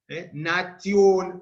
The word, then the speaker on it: natio: Cuando las letras T e I van seguidas de otra vocal, como tia, tio, lo vamos a pronunciar o tiacho simplemente, o los que quieran pronunciarlos a la italiana sería sia, sio, nation, natio, nationem, o nationem, justitia o justitia.